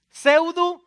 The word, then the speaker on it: pseudo: donde dicen los libros pseudo epígrafe lo ven segundo se escribe con p p sub-20 pseudo pero empieza con la p así como la psicología también empieza con una p porque entonces segundo se